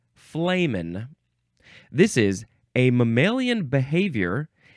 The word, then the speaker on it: flehmen: This is spelled F-L-E-H-M-E-N. It looks like flehmen. Flehmen. That's how a lot of us feel about men in general. This is a noun from 1976. Remember, it's pronounced flamin'.